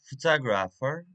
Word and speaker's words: photograph: take three words photograph photographer photographic as you can see the first word a photo photograph it has a trees level and stress is the first one first level photograph